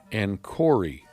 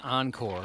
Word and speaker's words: Encore: It was a record called Enori. I think that's pronounced Encore.